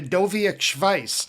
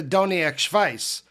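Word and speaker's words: Doniac Schvice: First, I brutally butchered the name of Fish's old newsletter by calling it the Dovia vice. I think I got my consonants mixed up because it's really called the Doniac Vice.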